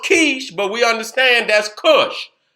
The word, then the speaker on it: Kish: Now it's pronounced Kish, but we understand that's Cush.